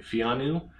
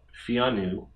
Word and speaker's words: Pheanoo: i'm pronouncing this right fiannu to me it reminds me of like keanu reeves like keanu keanu keanu but fiannu and with this they